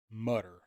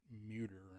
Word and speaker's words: Mutter: I say Mutter because you got to get Mutt from somewhere. Uh, I guess that's where that comes from. I've heard some people pronounce it Muter, and that ain't right.